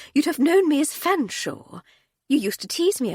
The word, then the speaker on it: Fanshawe: Well, it's Hardcastle now, but at Girton you'd have known me as Fanshawe. You used to tease me about it. Why on earth is it spelled like that if you pronounce it Fanshawe?"